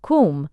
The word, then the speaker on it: Koom: Kum pronounced like the Welsh swib denotes something of hollowess.